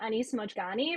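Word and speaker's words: Mojgani: I think he pronounces his name Anise Mojani, but I'm not him.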